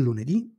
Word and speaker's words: lunedì: e di genere femminile le parole con l'accento sull'ultima sillaba si chiamano tronche e non cambiano al plurale esempi il lunedì il lunedì il martedì